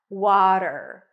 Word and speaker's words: water: a is in Father w w then a flap T and an R water water in American English water and then we